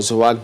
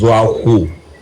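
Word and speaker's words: Zuwaghu: The pronunciation of the name is Zwahu.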